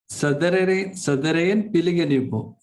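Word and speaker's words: සාදරයෙන් පිළිගනිමු: Sadarane Piliganimu. I'm not sure whether this is the right pronunciation in Sinhala, but I just found out that to welcome in Sinhala, this is the way to pronounce.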